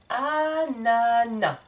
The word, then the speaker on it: ananas: ce n'est pas correct dans le dictionnaire le s est muet on ne prononce pas le S de ananas donc je répète le